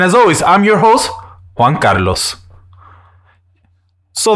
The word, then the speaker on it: Juan Carlos: host juan carlos so that's how you actually pronounce my name in case any of you guys were ever wondering i don't do it because i feel like it makes me look like uh pretentious or something so i tend to mispronounce my name on purpose but it is juan carlos in case any of